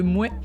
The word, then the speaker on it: Mouais: Le premier village que j'ai retenu, c'est le village de Mouais. Le village de Mouais, donc ça s'écrit M-O-U-A-I-S, comme quelqu'un qui serait pas tout à fait d'accord avec le nom de ce village d'ailleurs.